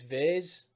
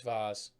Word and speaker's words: vase: you talking about it's viz like say it properly i'm like i'm saying it properly it's vaz anyways if you're from